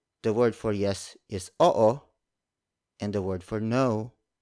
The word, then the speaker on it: oo: The Tagalog word for yes is oo. Oo. Oo. It's spelled as O-O. Notice that in Tagalog words with double vowels like oo, we pronounce the vowels separately.